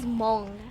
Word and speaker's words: Hmong: My native language is Hmong. It's like, it's spelled out like H-M-O-N-G. The H is silent, guys. But like, I'm not even good at speaking my native language.